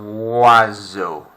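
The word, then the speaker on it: oiseau: lap ban seven and there's that sound again look on wazzo wazzo wazzo that s is almost becoming like a zed y zoo eight um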